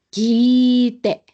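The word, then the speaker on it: 聞いて: Entonces, también en japonés se va a alargar, pero la I, kite, kite, ¿bien?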